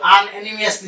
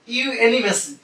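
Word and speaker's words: unanimously: এটা অনেকে কিন্তু আনএনিমিয়াসলি বলে, উচ্চারণ কিন্তু আনএনিমিয়াস না, উচ্চারণ হলো ইউনেনিমাস। উচ্চারণ এলটা কিন্তু পারবে না, ইউনেনিমাসলি, সর্বসম্মতিক্রমে, ইন দ্য জেনারেল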